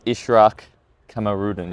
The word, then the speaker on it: Ishraq Kamarudin: But your name is Ishraq Kamarudin, yes?